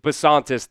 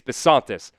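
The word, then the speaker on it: Bisontis: This was the pitch here from Pro Football Network on Chase Basantis. That's how you say it. Chase Basantis.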